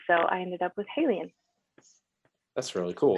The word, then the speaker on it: HALIENE: I don't speak French, so the closest I can say it is HALIENE, and it's spelled HALEINE, so a little different than me.